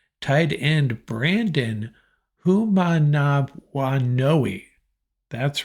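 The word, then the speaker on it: Manumaleuna: at my cheat sheet here make sure I pronounce this right tight end Brandon who manav woi that's right a tight end out of Torrance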